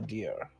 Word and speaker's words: Dyrr: Specifically, Botha Deer. But Can you spell that?